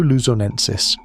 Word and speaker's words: luzonensis: Homo luzonensis, pronounced Luzon ensis, was announced in 2019 by a team led by Florent Détroit.